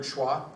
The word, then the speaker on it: schwa: Do any of you know the word schwa? Mm-hmm. Okay, schwa would be like the way you say E in Detroit, Detroit.